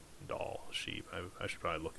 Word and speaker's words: Dall: I mean, it's Dall, so it'd be like ball, but with a D, so Dall is what I would guess, right? Yeah. It's probably a French word, and it's pronounced like Dalle.